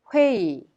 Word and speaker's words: 회의: The last syllable 의 is pronounced e because it is easier to be pronounced e instead of 의. On the contrary, the first syllable 의, like 의사, 의자, are pronounced 의.